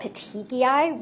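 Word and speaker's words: petechiae: And another thing that you can see with compression is what are called petiki which is spelled p e t e c h i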